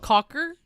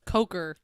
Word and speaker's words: Coker: Cocker. Coker. Coker. Yeah, it's Tom Coker. You okay there, Spence? I mean, pronunciation.